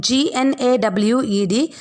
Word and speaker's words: gnawed: GNAWED. G is silent.